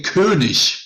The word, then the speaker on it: König: The only thing is the two dots, they say König, but that is probably the closest I have heard today.